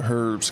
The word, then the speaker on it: herb: fine we'll go to Herb's class did you pronounce the h D herb the H is silent English hey look at